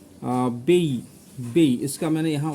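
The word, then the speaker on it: Baiae: बेई इसका मैंने यहां उच्चारण भी दिया हुआ है।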